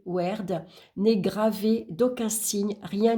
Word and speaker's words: Wyrd: La rune blanche nommée Wyrd, prononcée Werd, n'est gravée d'aucun signe, rien ne figure sur cette rune.